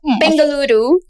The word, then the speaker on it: Bengaluru: So you want to tell us a bit about how Bangalore, why don't I pronounce that well? Bengaluru.